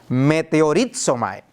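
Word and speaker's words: μετεωρίζομαι: Esa frase traduce la palabra griega meteorizomai. Y la pronuncio a propósito. ¿A qué les suena? A un meteorito, a un meteoro.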